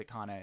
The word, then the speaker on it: Khanna: to break I'm like so I'm not sure whether to call O'Connor O'Connor he pronounces Akana in advertisements so I generally just